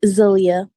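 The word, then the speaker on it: Zaliyah: Zelia. Zelia. All right, let me spell it.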